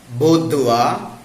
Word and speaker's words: boudoir: See some other wrongly pronounced words in English: reservoir, boudoir, abattoir, repertoire. They are correctly pronounced as reservoir, boudoir, abattoir, repertoire, and so on.